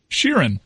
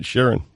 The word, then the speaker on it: Sheeran: How do you pronounce the last name? Sheeran. All right, Sheeran.